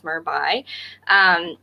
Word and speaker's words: merby: If you Google them, it's spelt like merby, like you're saying by instead of mermaid or merman. It's merby.